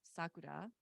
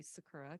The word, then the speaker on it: Sakura: will also share because my name is Sakura in the native pronunciation and I go by Sakura because it's just a little easier for most people but my name means